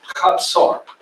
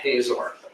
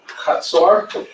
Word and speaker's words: Hazor: cities is this one, pronounced Chatzor. Most people say Hazor. Chatzor, and there's a tell there.